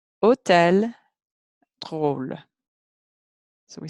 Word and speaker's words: hôtel: If it's got that accent mark, or if it's a short word and it's the last sound in the short word, or the last sound in the syllable, as in this one, it's going to say O, O.